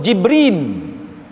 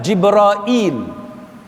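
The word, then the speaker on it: جبريل: sebagainya dia baca dengan jibrail kita dengar ada orang Melayu pun sebut jibrail ha pun betul juga Jibril jibrail Jibril al-qamah membacanya dengan jibrail dan ada banyak cara sebutan dan cara bacaan yang berbeza dan ini disebut oleh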